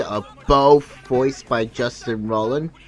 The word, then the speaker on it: Roiland: Also, you got Justin Roiland's name wrong. It's not Roland, it's Roiland with an I.